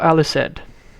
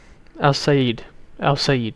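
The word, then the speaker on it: El-Sayed: There's Abdul Al-Assad. Al-Said, sorry. That's how you pronounce it.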